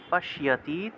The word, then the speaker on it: পশ্যতি: আশ্চর্যবৎ পশ্যতি, তালবস্যের সাথে জফলা থাকায় স্বীয় উচ্চারণ।